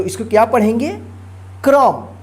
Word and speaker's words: क्रम: का उच्चारण होता है जिसको पढ़ेंगे कर्म और इसको क्या पढ़ेंगे क्रम देखिए फर्क देखिए क्रम ये जिस अक्षर में लगा रहेगा उसी अक्षर के साथ उच्चारण होगा और ये जिस अक्षर पर लगा रहता है उस अक्षर से पहले वाले अक्षर के बाद जो है ना आधा र का उच्चारण होता जैसे कर्म ठीक तो आप